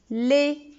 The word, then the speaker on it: lait: Le lait. Avec un T à la fin aussi qui est une lettre muette, etc.